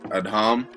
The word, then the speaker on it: Adham: actually an average spelling of adam so you pronounce it at home but it's a-d-h-a-m and then games you just